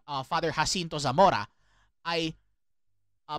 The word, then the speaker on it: Zamora: um uh pronounced the name uh father hinto Zamora I uh pronounced it as hinto Thora and I and you also noticed uh somehow